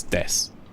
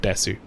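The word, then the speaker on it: です: That's one of the many silent U's in Japan.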